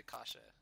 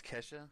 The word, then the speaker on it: Kesha: Or maybe we can talk to Kasha. Hey, bitch. It's Kesha, alright? Could you pronounce it correctly?